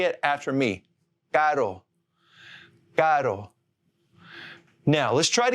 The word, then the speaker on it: caro: The word expensive in Spanish, it's spelled C-A-R-O. Now just flap your tongue on that ridge and say caro, caro.